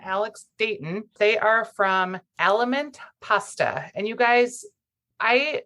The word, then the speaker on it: Aliment: of your company because I always think ailment where did you get the name of element cuz it looks like it may be something in Italian so yeah you you hear it in Italian it's also like Spanish